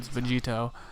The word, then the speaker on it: Vegito: Vegito kakaro yada yada put Vegeta in front of kakaro you get Vegito that's the name anyway or how it's actually supposed to be you know pronounced or said Vegito that's the character that